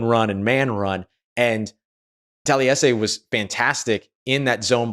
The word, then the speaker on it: Taliese: So just to kind of clue you in on that, 4 syllables in the first name, and then that kind